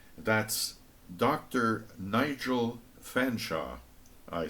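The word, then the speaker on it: Featherstonhaugh: say that's Dr Nigel fanshaw I say allocating my surname only two syllables since it's pronounced fansa an apparently impenetrable mystery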